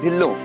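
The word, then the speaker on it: ढिल्लों: टू you mister La नो नो इट्स not mister ढला it's mister ढिल्लो सी दालचीनी also pronounce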